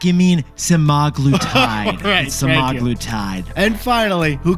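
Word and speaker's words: semaglutide: the next one was The crucial OIC ingredient seude Jack you mean sagl tide sagl tide and finally who could forget this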